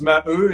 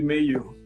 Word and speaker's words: Maheux: French is Maheux, in English would be Maheux.